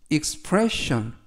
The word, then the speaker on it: expression: 이번 표현은 expression 이라고 발음하시면 되겠고요. 단어가 약간 긴데요. 강세를 알려드리면 가운데 있는 이에 강세가 있습니다.